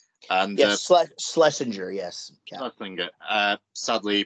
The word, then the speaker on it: Schlesinger: But correct me if I'm wrong, Jaret, you wrote this with Adam, apologize if I pronounce his surname wrong, Schlesinger. And Schlesinger, yes.